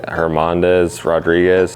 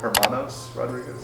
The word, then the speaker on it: Hermanos Rodríguez: First of all, how do you pronounce the name of the track? Auto Dromo Herand Hermandez Rodriguez. Hermanos Rodriguez.